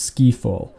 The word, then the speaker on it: Ski Fall: at today guys is a play on words from the james bond film skyfall but it is actually pronounced ski fall as the actual map